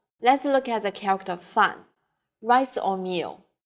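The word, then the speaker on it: 饭: It suggests that its pronunciation is close to the pronunciation of the character fan, meaning opposite.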